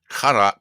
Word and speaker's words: Qatar: It's actually Qatar Qatar Qatar or something. But, the closest English word is guitar.